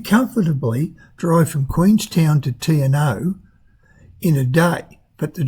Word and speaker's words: Te Anau: Sounds like or reads like Te Anau or Te Anau. It's apparently Te Anau.